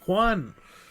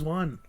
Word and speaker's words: Wan: But you said Juan. Juan. All right, go ahead. How do you say it? James Wan.